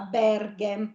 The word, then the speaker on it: Berghem: E che Berghem, accento è? Aperto o chiuso? aperto. Brava, Berghem.